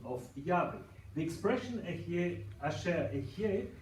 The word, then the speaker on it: Yahweh: the original pronunciation, but it may give an indication that Yahweh was a possible pronunciation, because Ehyeh is like Yahweh.